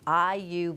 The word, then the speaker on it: Ayu: Oh, they are doing such exciting new stuff down at Ayu Bakehouse. That AYU rhymes with Bayou.